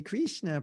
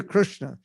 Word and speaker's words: Krishna: Hare Krishna, Prabhu, Jai Radhe. That's not the proper pronunciation of Sanskrit. It's Hare Krishna, Jai Radhe.